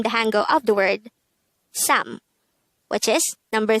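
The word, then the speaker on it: 삼: Next, the SINO-KOREAN version of number 3 is sam. This is just composed of one syllable.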